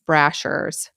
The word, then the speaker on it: Brashers: I think I might have said his last name wrong. Sorry, it's Brashers.